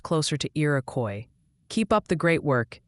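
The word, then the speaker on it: Iroquois: They're gently suggesting Irakcoy County is pronounced closer to Irakcoy.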